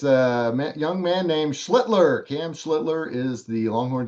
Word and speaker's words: Schlittler: It's Schlittler. I'm still right. Look at how it's spelled.